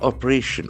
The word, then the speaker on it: operation: Opposed or against something, anti-terror, against terror, operation, O-P-E, R-A-T-I-O-N. As we know, ending must be nouns. So, Operation. operation, the accent falls on the third syllable.